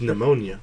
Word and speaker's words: pneumonia: And if you put a P next to an N, the P is silent. Like pneumonia.